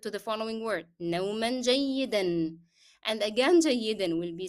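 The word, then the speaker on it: جيدًا: Okay, نوما will be pronounced with the sound of N because I connected to the following word. نوما جيدا.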